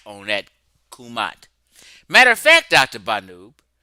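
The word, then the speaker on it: Kemet: out Dr banoo that you were right about the pronunciation which they didn't catch of kumat not Kim Dr Bano said they pronounced it in Coptic kumat not kimet he was right Chef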